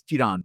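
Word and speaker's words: Chirand: Chiran Chiran people didn't know how to pronounce. Anyway, so it's C H I R A N D. It's Chirant.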